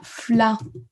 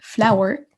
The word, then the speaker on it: flower: qui va ressortir c'est la même chose pour flower ou ça se prononce comme ça flare ou flower et si je vous